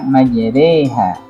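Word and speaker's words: مجراها: Majroha, tulisannya itu majroha, mim ro-nya itu fathah, tapi dibaca majreha.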